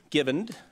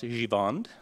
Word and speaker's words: Givend: downtown business Flying Gent, Brandon Givend, although he can also have it pronounced Givand, if you like that.